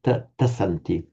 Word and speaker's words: tasanti: Remember tasanti. Tasanti. Tasanti. Remember the s in Sanskrit and Pali never gets pronounced as a z.